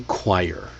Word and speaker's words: choir: The English borrowed it, but instead of keeping the original qu sound qu they wrote the the the English scribes wrote ch because of the older Latin spellings. Meanwhile, the oi kept that French sound and later that that's why the English sounds so different. So, it's a borrowed word, inconsistent spelling rules, and that's why this beautiful mess that we know know is a choir.